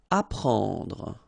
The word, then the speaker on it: apprendre: Apprendre. Alright, so combination of and n gives you this nasal en, okay, and then prend, apprendre.